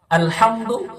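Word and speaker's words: الحمد: পড়বো আলহামদুলিল্লাহি রাব্বিল আলামিন এই হিজাকে আপনি বড় হা করবেন না যেখানে বড় হা সেখানে বড় হা করুন যেখানে ছোট হ সেখানে ছোট হা করুন আলহামদু আলহামদু লিল্লাহি রব্বিল রাব্বিল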